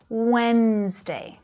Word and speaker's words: Wednesday: Vì thế từ này không phải có 3 âm tiết. Nó chỉ có 2 âm tiết . Wednesday. Và chữ D đầu tiên đó hoàn toàn là âm câm.